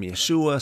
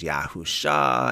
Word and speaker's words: Yeshua: yeah I know that some people pronounce Jesus name Yeshua some of them pronounce it as Yahoo sha and all kinds of other different pronunciations I'm just going to